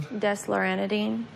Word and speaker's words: Desloratadine: nightly for your 12-year-old, and how do you pronounce this one? Desloratadine.